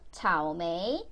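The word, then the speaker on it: 草莓: 오메메 오메 오메 오메 한국 사람들이 제일 못하는 발음 차오메이 삼성 이성 발음입니다 차오메이 차오메이 차오메이 딸기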